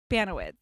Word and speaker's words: Baniewicz: This is how I say it. Baniewicz. Correct. Yeah. Oh my God. Okay, that is the right way.